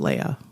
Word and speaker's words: Leah: but it was spelled Leah like my mom, but she pronounces it Leia.